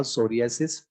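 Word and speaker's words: psoriasis: disorder है एक था सोरियास टी साइलेंट होता है सोरियास एक था विटी लिगो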